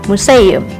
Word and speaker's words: museum: EU menyerupai ejaan EU pada bahasa Sunda, contohnya pada kata museum.